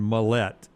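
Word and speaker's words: Mallette: So when I notice it and send out the pronunciations, it's Phylan and Millette.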